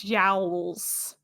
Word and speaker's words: jowls: fun thing to say it's jowls it's it rhymes with bowels great i think it's